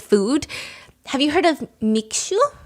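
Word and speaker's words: Mixue: Have you heard of Miku? Mishu. M I X U. How do you pronounce that? Mishu.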